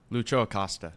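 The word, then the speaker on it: Lucho Acosta: their best player because Jimmy always says his name wrong Lucho aosta there you go got it this time does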